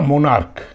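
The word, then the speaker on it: monarch: রাজা ইংরেজি জানো তোমরা মোনার্ক এম ও এন এ আর সি এইচ মোনার্ক ক উচ্চারণ হচ্ছে সি এইচ আছে কিন্তু ক উচ্চারণ হচ্ছে এটা খালি সি এইচ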